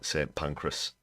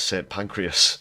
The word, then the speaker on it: St Pancras: corrected in the comments I did mispronounce uh St Pancras as St pancreas so uh apologies for